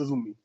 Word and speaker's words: Azumi: I know it's spelled AZM, but it's Azumi.